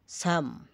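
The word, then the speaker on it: psalm: পি এস এভাবে ব্যবহৃত হলে তাহলে পি এর উচ্চারণ হয় না। যেমন সাইখি আত্মা সাইখো মন সোরা খুশপাসরা স্যাম স্তবগান সাউডোনিম সাউডোনিম সোডোনিম ছন্দনাম এর ব্যতিক্রম সি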